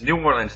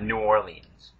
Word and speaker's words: New Orleans: It's New Orleans, not New Orleans.